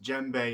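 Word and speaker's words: djembe: that with you so of course the gembe pronounced gembe is one of the most versatile and widespread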